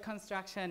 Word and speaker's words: construction: The word construction is construction, right? And the stress is before the word shun, right?